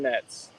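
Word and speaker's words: Netz: sure was against Felix what's your name Nets Nets Nash how do you spell that okay no the last name the last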